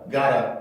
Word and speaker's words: gotta: 그러면 got to 이렇게 T 발음을 살리는 것보다는 조금 더 부드럽게 해서 이 발음이 살아남아서 이 발음이 플랩으로 바뀌게 돼요. 그래서 gotta 이렇게 표현을 해줄 수가 있게 됩니다.